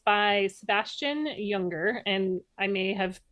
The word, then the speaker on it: Junger: It's by Sebastian Junger, and I may have mispronounced his last name because it's spelled with a J, but I'm assuming it's pronounced with a Y.